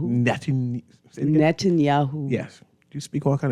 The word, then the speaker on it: Netanyahu: wish I didn't know how to say Benjamin Netanyahu net Netanyahu yes you speak all kind of foreign language